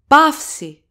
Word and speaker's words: παύση: Pafsi. Pafsi. That's a vowel combination, alpha and ypsilon. The accent goes always on the second vowel of the vowel combination, so it goes on ypsilon.